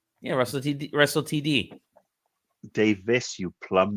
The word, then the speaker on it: Davies: You're saying it right, Russell T David. Yeah, Russell TD. Davis, you plum, not David.